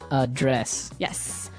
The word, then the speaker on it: address: verb address has the the stress on the second syllable okay address yes and that means to